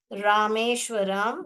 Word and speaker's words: रामेश्वरम: बताना है, इसलिए एट रामेश्वरम। कौन सा था? रामेश, मैंने बताया था स्पेलिंग कैसे पढ़ने का। रा पढ़िए और मेष व रम, रामेश्वरम।